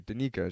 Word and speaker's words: Danyka: because it's aunt nica my fiance was like really questioning me i was like danika she's like danica and i was like danica d-a-n-y-k-a danica she's like no i